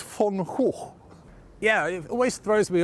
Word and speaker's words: Van Gogh: Well, how do you say it in Dutch? I don't In know. Dutch, it's Van Gogh.